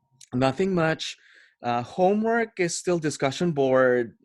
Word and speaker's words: mu: and we signify that as mu that is pronounced as mu it's a Greek letter kind of like a